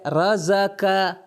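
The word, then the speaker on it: رَزَقَ: پہلا جو لفظ ہمارے سامنے ہے وہ ہے رزق. تلفظ دیکھیں 3 فتحہ.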